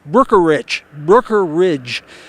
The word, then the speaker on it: Brookeridge: look at the word, it looks like it's easy to say. It's hard to say with the E in there, but it's Brookeridge.